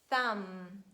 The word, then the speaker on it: thumb: means to get something and letter b is silent when it stands at the under words and it is preceded by letter m so letter m stands before that and we read comb thumb num lim lam climb and its derivative climber